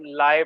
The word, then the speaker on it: lye: ये जो लिखा हुआ है YLYE, इसको आप लाई बोले, लाई होगा, ठीक है, जो भी प्रोनाउंसिएशन करें, बहरहाल LYE लाई कहते हैं इसको।